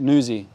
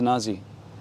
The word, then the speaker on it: Nuzzi: skateboarding is a crime your last name yeah it's pronounced nuzi yeah but everybody says Nazi and you're just like